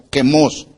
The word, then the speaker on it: Quemos: El nombre verdadero de este ídolo al que estaban adorando era Quemos, con Q y acento en la O, Quemos.